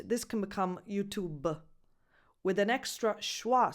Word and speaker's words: YouTube: But you have to keep one thing in mind, that you have to stop at the actual sound of the final B. YouTube. YouTube. Because with an Italian accent, this can become YouTube, with an extra schwa